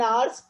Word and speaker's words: hours: 10 hours of steady rain had driven him to crawl,